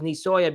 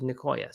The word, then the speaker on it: Nicoya: I always thought it was Nisoya because the C has that little thing under it that makes a hard C turn into a soft C. But I talked to someone who lived here, and he said it was Nicoya, so I don't really know.